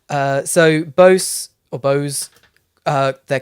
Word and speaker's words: Bose: this brand name Bose is it or Boza Bose I would say Bose the the the brand that makes speakers I've got one here they make speakers all right uh so Bose or Bose uh they're